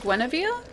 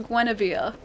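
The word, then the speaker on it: Gwynevere: it's I pronounce it Gwen hea it's pronounced like Arthur's wife gwava it's pronounced gwava why isn't it written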